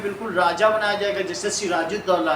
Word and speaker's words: सिराजुद्दौला: सुराजुद्दौला करो, double T ए यू आएगा, AULH, सिराजुद्दौला। H भी आएगा सर, साइलेंट है।